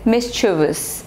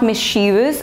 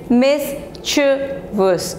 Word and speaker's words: mischievous: Next word is mischievous. So this is not mischievous. I have heard people pronouncing it wrong. Now the correct pronunciation is mischievous, okay? Mischievous. So the stress is on the first syllable.